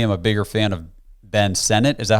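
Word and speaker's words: Ben Sinnott: Texas I personally am a bigger fan of Ben Senate is that how you say his name yes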